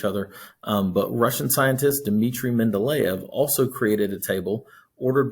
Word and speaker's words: Mendeleev: you hear this it's mendeleev is russian so um that's the way it's pronounced mendeleev uh i mean if you said men to leave it's okay but that's